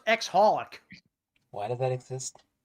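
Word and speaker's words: xxxHOLiC: cole black ninja that there's a show called XXX aholic why does that exist it's actually it's actually it's actually pronounced ex holic why does that exist it's actually despite the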